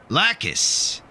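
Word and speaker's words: lācis: Lakis is how you say bear in Latvian.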